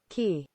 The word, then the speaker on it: quay: Is it K or Quay? I think it's K. Not totally sure. How do you pronounce I'm not an English major. Quay? Key. It's Key. Of course it is. It's Key.